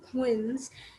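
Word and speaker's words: quinze: written as q u i n set e wins 16 is written as c e i z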